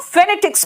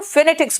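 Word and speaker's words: phonetics: देख ले, जो हम फेनेटिक्स में देख रहे हैं। बेटा देखो, फेनेटिक्स बोलते हैं, फोनेटिक्स नहीं बोलते।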